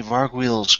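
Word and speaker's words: Vargouille: Alright, so, after that, the Vargwheels go. Or so it's been told to me that they're pronounced Vargwheel.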